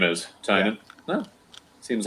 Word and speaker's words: Tynan: Is it Tynan? You guys have we seem to have changed our pronunciation. We were corrected. Is that right? Oh, okay. So I'm just trying to make it stick. Tynan.